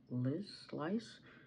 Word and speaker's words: LYS: So the other day, say Lice, but I think it's LYS, because I was going to say it wrong myself.